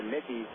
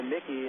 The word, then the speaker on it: Muecke: No silent letters there. Here's Haynes. Lefty verse lefty. Corners coming up in Casey Bunt. And a lift of the leg by Mickey and returned to second,